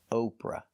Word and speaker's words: Oprah: The pronunciation is the long O sound like no and go. Oprah.